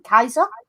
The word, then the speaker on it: Caesar: But as we know, there is no soft C in Latin. It would have been Kaiser.